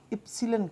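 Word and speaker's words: epsilon: और प्रोनाउंसिएशन इसका होता है इप्सिलन कहा जाता है इसे, है ना।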